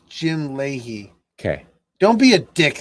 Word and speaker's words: Leahy: struggle so uh the delusions of officer jim lahaye leahy that's not how it's spelled it's jim leahy okay don't be a dick about it jim